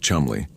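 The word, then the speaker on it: Cholmondeley: The second is Flight Lieutenant Charles Cholanderly, pronounced Chumley, a more freewheeling member of the RAF intelligence service.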